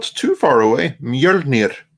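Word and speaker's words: Mjölnir: Mjolnir. Mjolnir. There we go. Yeah. Rolling the R is the most important thing there.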